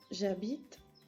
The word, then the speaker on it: j'habite: Habéis tenido todos muchos fallos en la pronunciación de j'habite, no me podéis decir j'habite, ¿vale? Porque la E prácticamente no se pronuncia. J'habite como je parle.